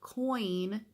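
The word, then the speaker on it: Quoin: saying it right, but I think it is called Coin, but it's spelled Q-U-O-I-N instead of C-O-I-N.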